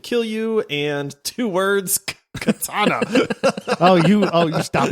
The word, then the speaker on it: katana: you and two words katana oh you oh you stop it um by the way it's one word three syllables there is no two in Katana at all I think it's perfect